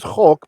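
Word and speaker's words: חֹק: So chok, this is chok because it's a closed syllable, unaccented comets.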